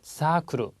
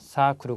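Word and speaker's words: サークル: 야루 동사지 그래서 하다라는 의미가 되고요 다음은 자 발음 주십시오 사크르 자 사가 장음이요 사크르 그러면 뭐 서클 서클 활동이라 뭐 서클 할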